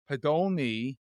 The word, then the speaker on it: Podolny: But I am honored to have Aaron Podolny. Did I say it right or did I screw it up? You nailed it.